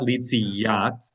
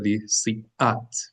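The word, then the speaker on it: ליציאת: So not litziyat, but litzliat. Litzliat. It's an aleph. Litziat. Glottal stop.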